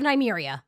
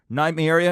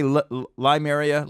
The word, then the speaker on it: Nymeria: There could be an army of wolves that our girl Nymeria. Did I say it right? I always say it wrong. Didn't I say Lymeria?